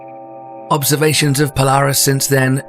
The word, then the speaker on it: Ejnar Hertzsprung: The variable nature of Polaris was first discovered back in 1911 by Danish astronomer Ejnar Hertzsprung (pronounced eye-nar hertzsproong) Observations of Polaris since then show that the star has had a consistent pulse period of four days.